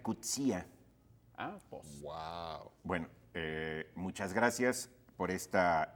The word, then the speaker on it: Coetzee: los escritores africanos efe coetzee dice que se pronuncia cuchilla bueno muchas gracias por